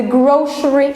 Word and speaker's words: grocery: So that's here what we mean by the grocery store. Though we have here C, but we pronounce it as sh.